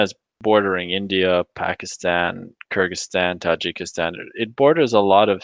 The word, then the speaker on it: Tajikistan: Beijing implies, how do you pronounce this, man? Ta- Tajikistan?